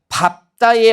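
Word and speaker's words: 밟다: 자음 앞에서 발음되고 있으니까이 규정 그대로 읽으면 발다가 아니라 뭐라고 발음하게 되는 거예요? 밥다 이렇게 발음하게 되는 거고 그죠?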